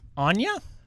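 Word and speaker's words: Anje: do you say it Anya Anya its Germanic so it's like a soft J sure on your falkenroth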